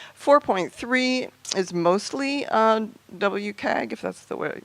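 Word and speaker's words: WCAG: to correct me four point three is mostly WK gif that's the way right way to pronounce it compliant although there were some sort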